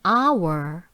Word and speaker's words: hour: 한번 읽어 볼게요 an hour 왜 자꾸 소리 소리 소리가 중요하다고 빨간색을 해놨냐 h로 시작하는 단어지만 h가 소리 나지 않을 때 이거 시간 할 때